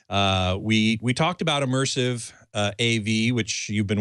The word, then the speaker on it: ImmersAV: and I must say it's pronounced just like the word immersive but it's spelled i-m-m-e-r-s